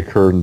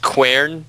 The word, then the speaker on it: quern: Basically what a kern does. That's basically what a kern is. Yes, it's literally two rocks that slide against each other. I believe it's pronounced quern. The Q is not silent.